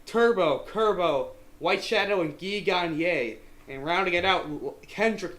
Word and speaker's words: Gagne: Squad 11 is Turbo, Kerbo, White Shadow, and Guy Gag. And okay, sorry, I'm still getting used to actually calling him by his real pronunciation. We got Turbo, Kerbo, White Shadow, and Guy Gagne.